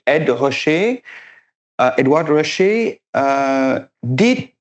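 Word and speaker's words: Ed Ruscha: by the work by Ed Russia Ed Russia sorry have to pronounce it the right way. And Ed Rasher uh Edward Rosher uh did his book exactly 10 years before know 672.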